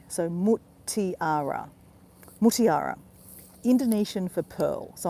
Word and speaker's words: Mutiara: Now it's spelled M-U-T, Mut, I-A-R-A. So Mutiara.